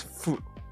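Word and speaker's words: ふ: But the real pronunciation is fu. Yeah. Fu or fu. That's just Japanese.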